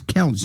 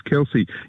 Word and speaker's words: Kelce: for some reason he's got some fetish with Taylor Swift and Travis Kelch. Is that how you say it, Harold? Yeah, it' be Taylor Swift and Travis Kelce.